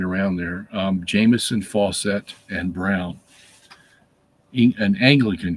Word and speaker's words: Jameson: right around there um Jameson Fawcett and brown an Anglican commentary okay so uh Jameson j-a-m it's like Jamison liquor spelled the same way falsette f-a-u-c-e-t-t and brown